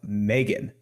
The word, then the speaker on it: M3GAN: it up with a review of Megan and that's spelled with a three so it's very unique